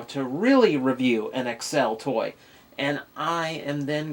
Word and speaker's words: Accel: Pronounced Accel, not Axel.